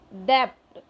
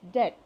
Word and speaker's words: debt: ये DEBT, इसको बच्चे कई बार डेप्ट, DEBT डेप्ट पढ़ते हैं, बट नो it's wrong, the right pronunciation is डेट। ठीक है, B इज साइलेंट।